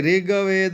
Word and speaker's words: ऋग्वेद: अध्याय ब्रह्मा ऋषि महाकाली देवता गायत्री छंद नंदा शक्ति रक्तदिका बीजम अग्न तत्वम ऋग्वेदः यहां देखिए ऋग्वेद नहीं बोलेंगे ऋग्वेद देखिए जहां आधा अक्षर है उसे आधा अक्षर ही उसका उच्चारण करना है।